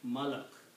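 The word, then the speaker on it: ملك: combine them this way, I put a fatha on the first one and a fatha on the second one, and a sukoon or jazam on the third one. It is like malak.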